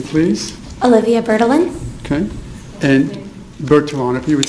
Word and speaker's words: Bertalan: people - you state your name please Olivia bertolon okay and virtuality would spell that last name BER tal aan and at